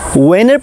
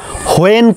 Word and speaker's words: when: ওকে, সো ইংলিশের যে স্ট্রাকচারটা হচ্ছে ওয়েনের পরে কখনো দেন বসে না, আর উচ্চারণটা কেউ ভুলেও হোয়েন করবেন না, এইচটা সাইলেন্ট হয়ে যাবে, উচ্চারণটা হবে ওয়েন।